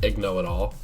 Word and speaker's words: Igno-It-All: That's how you pronounce it, Igno-It-All.